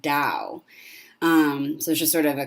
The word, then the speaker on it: Tao: and it still pronounced Dao if you see it spelled with a t sometimes it's spelled t AO and it still pronounced Dao so just sort of